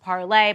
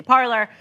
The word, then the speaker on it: Parler: was the second twitter it's actually pronounced parlay but we're american so we say parlor um is back on